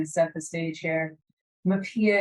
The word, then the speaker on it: MHPAEA: MAPIA is, of course, how we pronounce the acronym for the Mental Health Parity, Addiction, and Equity Act.